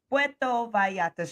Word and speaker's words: Puerto Vallarta: It's Puerto Vallarta.